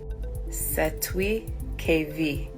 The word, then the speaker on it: Cestui Que Vie: Cestui Que Vie.